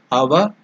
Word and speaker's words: Avagunthana: So the tongue should touch the upper portion of the mouth.